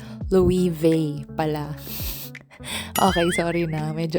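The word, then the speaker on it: Loewe: Hindi pala siya Louis Louis or Lewe or what. Spanish brand siya according kay Google. So it's Louis vei pala.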